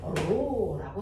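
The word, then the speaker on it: ρ: 그걸 로라고 쓰면 돼요. 이를 길게 쓰면 로야. 로 맞아. 그래서 이렇게 쓰면 돼. 로라고 읽어.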